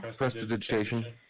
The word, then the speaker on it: prestidigitation: Prestidigitation.